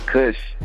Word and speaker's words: Cvsh: say your name all right so yeah it's cush cush I leave what does that word come